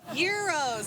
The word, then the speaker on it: gyros: And while Mo says most people cannot even pronounce what she's serving up, Gyros, silent Jeep.